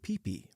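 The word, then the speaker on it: Phi Phi: a famous island called Coop peipi pronounced like like pee pee I walked into my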